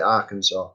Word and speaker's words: Arkansas: it wrong because it you don't pronounce it like it's spelt it's spelt our kansas a r and then the word kansas but you pronounce it arkansas something i've learned go